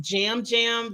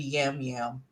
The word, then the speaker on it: Yam Yam: I think it's pronounced jam jam. They pronounce the Y like a J, but I just my vision say Jam.